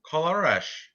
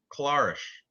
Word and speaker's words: Colares: felipe kobasao cabaso corolla colorash clarish polaris yeah the last s is pronounced with sh because he's he's because he's brazilian they speak portuguese in